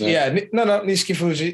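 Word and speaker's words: Nishikifuji: I'm probably mispronouncing that. Yeah, no, Nishiki Fuji. Nishiki Fuji.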